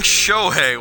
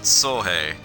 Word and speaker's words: Sohei: I was saying Shohei, wasn't I? I sincerely apologize for that. It's just Sohei. Sho is a separate syllable.